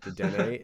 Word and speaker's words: Dedenne: That is the correct pronunciation of the Pokemon's name. However, that is morally wrong. There's no accent above the E, the last E, to let us know that you're supposed to pronounce it.